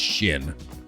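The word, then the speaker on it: Xin: Yeah, actually, I can't remember if they had unique dialogue for actually, his name, I think, is pronounced Shin. The X is pronounced with a sh, which is why I say Risha, right?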